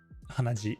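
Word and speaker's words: 鼻血: Hanaji.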